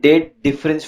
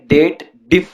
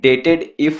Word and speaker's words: DATEDIF: ठीक है, इसे ऐसे भी प्रोनाउंस किया जाता है डेट डिफ फंक्शन। ओके, तो यहाँ पे ये डेटेड इफ फंक्शन नहीं होता है, ये आपका डेट डिफ फंक्शन होता है।